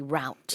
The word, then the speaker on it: route: people may say yeah I think in North America they see route exactly but you and me Sue we we've spent a lot of time in the UK so root is the pronunciation we use and that's the uh